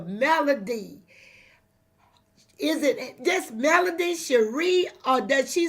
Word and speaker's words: Shari: Is it just Melody Shari, or does she say Melody Holt anymore? Because I don't want to say it wrong. It's Melody Cherie, and happy birthday.